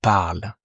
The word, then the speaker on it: parlent: ENT are silent as well. So they speak, ils parlent. So I guess here that many students, they want to pronounce just to mark the difference because it sounds exactly the same with third person singular as third person plural.